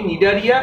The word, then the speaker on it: Cnidaria: আর এই পর্বে আমি নিডারিয়া এবং টিনোফোরা এই দুটো ফাইলাম আমি পড়াবো। তোমরা নিডারিয়া স্পেলিংটা একটু দেখো, CNIDARIA, সি অর্থাৎ সি এর কোনো উচ্চারণ হয় না, সাইলেন্ট।